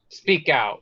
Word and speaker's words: SPK Out: Speak out. Like it's spelled speak.